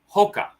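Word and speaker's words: ほか: and this is a Hokah I know what a hookah is hookah which means yeah it's not hookah it's a Hoka which means other so means other so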